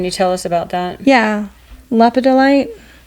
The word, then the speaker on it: lepidolite: Lepidolite. I don't say it like that. That's how I read it. Okay. I just call it lepidite. Okay. Which I'm missing a whole syllable is in that there.